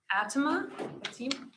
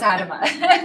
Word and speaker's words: Adama: Atema, sorry, correct me. It's rarely pronounced right, but you did. It's Adama. Thank you.